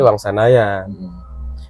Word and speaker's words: Wangsanajan: Duduki di wilayah itu yang akhirnya pengejaan berubah jadi dulu Wangsanajan. Wangsanajan ya. Ejaan nama kan. Y itu dibaca J itu dibaca Y. Iya, ejaan nama. Jadi Wangsanayan.